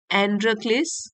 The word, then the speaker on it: Androcles: हूं इसका टाइटल है एंड्र क्लिस एंड द लायन यह जो वर्ड है इसको प्रोनाउंस करेंगे एंड्र क्लिस एंड्र क्लीस और यह जो है